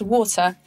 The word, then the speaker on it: water: uk english it's pronounced water and not water like in the us this first syllable is stressed and so the second syllable becomes weak just like a schwa how do we know